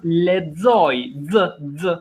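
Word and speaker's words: lexoj: Matt, the verb ledzoi, ledzoi, to read. Go ahead. Un lezoi, ti lezon, aio lezon, ne lezoima, you lezoni, atato lezoin. Very well. Atato ledzon. That X is pronounced z.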